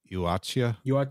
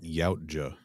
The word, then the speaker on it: Yautja: Allegedly, it's something close to Yuacha, but I don't know how accurate that is. I know that it is not Yautja.